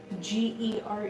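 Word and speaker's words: Gere: Richard Ger. Yeah, thank you. I was like, am I thinking of the right person? Yeah, but I was saying his name wrong.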